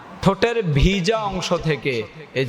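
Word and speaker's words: ث: তা পরে থা হরফটা নরম হবে জিহ্বার আগা দাঁতের আগা থা অনেকে এটাকে পড়েছা ছা ছা ছা এমন করে না হা ছা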